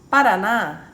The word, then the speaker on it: Paraná: Então, eu peguei Paraná. Paraná, eu vou acentuar o na, né?